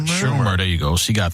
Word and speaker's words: Schumer: Schumer.